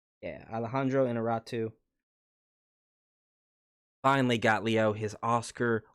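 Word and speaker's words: Alejandro Iñárritu: Alejandro Inarritu. Yeah, Alejandro Inarritu.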